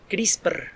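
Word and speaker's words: CRISPR: de una tecnología que se llama crisis percas chris pero así como suena crs pr y luego la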